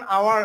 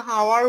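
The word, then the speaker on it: hour: আমরা যেরকম করি অনার অথবা অনেস্ট অথবা আওয়ার, তখন আওয়ার আমরা কিন্তু হাওয়ার উচ্চারণ করি না। তাহলে আওয়ার এর উচ্চারণ কিন্তু এইচ ও ইউ আর, আওয়ার দিয়ে আমরা আসবো এখানে এই জায়গাটায় নিচে আসবো।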